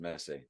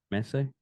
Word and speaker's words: Messi: just open to show the top and it's pronounced Messi Messi yeah okay but yeah she oh really is